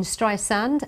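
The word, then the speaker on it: Streisand: Siri Apple's virtual assistant on the iPhone iPhone pronounces her name incorrectly she says the second s in stri sand and not soft Z Sten yes I say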